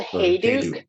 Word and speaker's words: Hayduke: Is that how you pronounce it? It's the Hayduke.